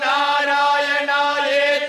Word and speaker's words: Narayanaya: Uno debe pronunciar el Om primero, luego namah y después narayanaya. Om es una sóla sílaba. Namah está compuesto de dos sílabas. Narayanaya consiste de cinco sílabas.